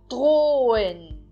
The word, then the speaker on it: drohen: Então, eu falo drohen. Eu acentuo bem mais do que a segunda sílaba. E eu não falo o H, ok? Então, eu não pronuncio o H.